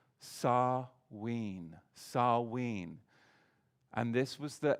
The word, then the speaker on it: Samhain: serve sarween now in in your english you'll often see it looks as if it should be pronounced samhain but it's not it's sarween and it's no different